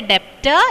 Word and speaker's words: debtor: Don't say debtor, it is debtor. B is silent, debtor.